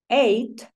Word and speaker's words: eight: So, seven eight. Acuérdate que la GH no suena.